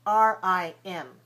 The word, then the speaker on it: rim: a vowel and the consonant, consonant, vowel, like r i m, rim, r i d, r.